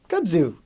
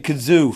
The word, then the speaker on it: kudzu: What's that plant that grows up on the telephone poles? Kudzu. Finally. He's been saying kazoo for, it's like he's confusing it with a kazoo.